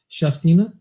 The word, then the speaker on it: Shastina: Shastina. It's like Shasta, but only Tina.